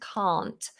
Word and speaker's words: can: and can't can and can't so can british english short ah ca can can't big long vowel for can't very different can't british